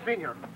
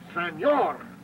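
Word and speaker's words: señor: How do you say senior? No, no senior. Senor.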